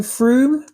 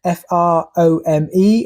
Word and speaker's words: Frome: For those of you who don't know Frome, it is pronounced Frome, F-R-O-M-E, although we get a lot of visitors here who call it Frome, especially when we go and watch live music.